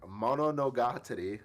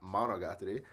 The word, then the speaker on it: Mononogatari: So this one is Mononogatari, not Monogatari.